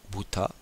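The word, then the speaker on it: 豚: le chien inou le cheval uma le cochon bouta le poisson Sakana la grenouilleou le renard kits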